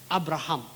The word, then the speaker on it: Abraham: Pi kini ka kentien Abraham ngila pronounce kunta ke Abraham, H-A-M, ham.